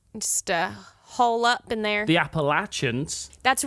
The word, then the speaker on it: Appalachians: The Appalachians.